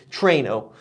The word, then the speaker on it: Trueno: First of all, Toyota had me pronounce it Trueno, kind of like a little bit like Plano.